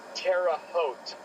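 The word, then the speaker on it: Terre Haute: It is Terraote, Indiana.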